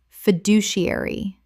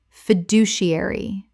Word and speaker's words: fiduciary: remuneration remuneration Word 156 fiduciary common mispronunciation fiduciary correct pronunciation fiduciary six syllables with the stress on the second Example, the trustee has